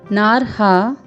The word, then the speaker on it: नार्हा: फिर है नार्हा, न में आ का स्वर, फिर ह में रेफ के रूप में र का प्रयोग है, फिर साथ में दीर्घ स्वर है।